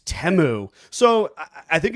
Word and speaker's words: Temu: commercial we were like we saying it wrong it's temu so I think it's